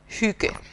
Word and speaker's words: hygge: Es pronuncia Hygge.